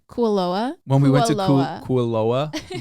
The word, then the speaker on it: Kualoa: when we went to how do you say it koala ranch kualoa when we went to